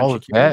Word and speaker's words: Shaqiri: and we lost Zerdan Shaqiri again. that's how you pronounce Shakiri, yeah? Yeah, Shaqiri. Shashiri.